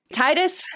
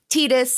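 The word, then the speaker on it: Tidus: to start with you what did you pick Titus and yauna from Final Fantasy 10 are my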